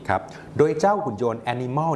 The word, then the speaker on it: ANYmal: โดย เจ้า หุ่น ยนต์ Animal นี้ ครับ สะกด ด้วย a n y m a นะ ครับ Animal คล้าย ๆ Animal นั่น เอง นะ ครับ พัฒนา โดย